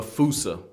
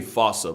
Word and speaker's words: fossa: Bane to lemurs everywhere the fusa although with its spelling I'm pretty sure it's actually fossa but the day I pronounce it like that is the day I